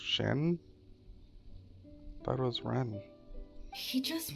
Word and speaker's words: Zhen: His name is pronounced Shen?